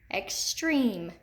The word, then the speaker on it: extreme: accented long e extreme extreme it's in the second syllable extreme and we've got the